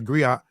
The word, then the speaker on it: griot: don't know what a Griot and a Griots is, right? So a Griot is a unique to Western Africa. The Griot or Jali professionally encompass many roles. The Griot, pronounced griot, have been referred to